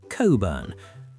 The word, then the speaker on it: Cockburn: Social etiquette insists that we pronounce it coburn.